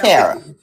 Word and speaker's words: Tarah: It's Tarah. It's Tarah, but you're fine. Okay. I'll answer to both. I have a friend named Tarah too, and when she corrected us that it wasn't Tara, it was Tarah, we went, that makes sense, because that is